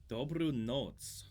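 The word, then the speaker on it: Dobrou noc: Dobru noc. That is a pronunciation of that character I've never encountered before.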